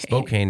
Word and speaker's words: Spokane: Spokane is how you say it.